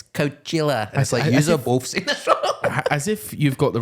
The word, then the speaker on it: Coachella: bro how are you saying Coachella it's not couchella it's Coachella as if you've got the right to tell anyone how to pronounce anything Zane low you absolute freak yeah